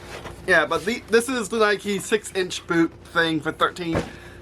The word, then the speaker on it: Nike: So I decided to try Nike, or Nike as the British say.